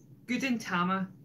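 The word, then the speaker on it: Gudetama: Gutenama, that's how you say it.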